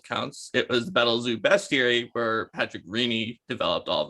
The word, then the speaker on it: bestiary: it's okay um and it's bestiary everyone's like be scary it's actually best bestiary it's french so if you ever want to know how to pronounce that correctly if if you the